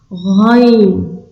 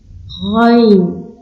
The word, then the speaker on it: غ: Ain, Ghain. Ici, je vous donne une petite astuce. Pour prononcer, c'est comme si on avait de l'eau à fond de la gorge. Ghain, Fa, Fa, Qaf, et pas Kef, on dit Qaf.